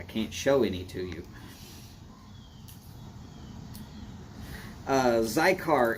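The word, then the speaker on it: Xicar: Zycar is spelled X-I-C-A-R.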